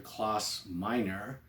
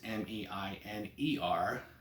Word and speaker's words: Klaus Meine: He's pronounced here Klaus Miner, so it's Miner, and Rudolf Schenker.